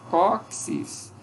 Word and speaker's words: cóccix: Tem esse Q, esse Czinho aqui é pronunciado como QI mesmo, ok? Que é uma sílaba, cóccix, sublinhar, ok?